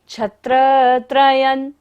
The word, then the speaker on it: छत्रत्रयं: छत्रत्रयं स्वरघात हो रहा है यहाँ पर।